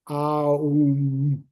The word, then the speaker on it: Om: And we say Om, but it's actually Aum.